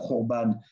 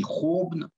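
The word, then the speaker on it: חורבן: Il existe aussi, enfin, c'est du hébreu, c'est de l'hébreu, là, Khorban. Et en yiddish, on le retrouve de la même manière, mais ça se dit Khorban, plus difficile à prononcer.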